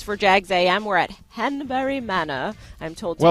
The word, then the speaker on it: Hanbury Manor: cool office space for Jags am we're at henbury Mana I'm told to pronounce it like that by Brian SE um